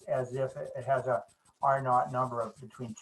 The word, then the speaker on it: R naught: If you want to be sound fancy like an epidemiology professor, R naught is how they say it.